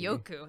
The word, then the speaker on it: Yoku: We kept not Yoki. Yoku. That is, today we learned, guys.